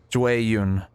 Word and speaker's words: Jueyun: Jueyun.